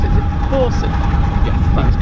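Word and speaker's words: Boursin: I don't know how you pronounce it. Is it Porson?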